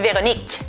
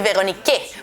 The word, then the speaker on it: Véronique: Por eso que mi nombre es Véronique. Se acaba con el último sonido que es k. Véronique. No vamos a decir Véronique porque no pronunciamos la E final.